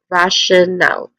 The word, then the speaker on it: rational: When it comes to pronunciation, we have rational. We have three syllables here. I guess rational. Yeah. Let's start with the first syllable, rush, which has a short vowel sound.